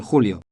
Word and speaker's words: julio: Note the pronunciation of En julio. the J is pronounced like an H.